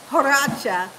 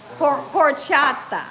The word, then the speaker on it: horchata: and you guys said it's not called Pacha it's called um it's called porata my husband's laughing he